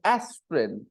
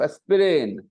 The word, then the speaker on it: aspirin: then you notice that the first vowel sound is stressed more and you hear aspirin instead of a sprain a sprain if I